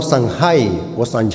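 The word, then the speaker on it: Samhain: honor a un Dios llamado San oan algo así se pronuncia para los seltan esta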